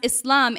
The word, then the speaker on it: Islam: And while you're at it, tell President Trump that it is pronounced Islam, and I am a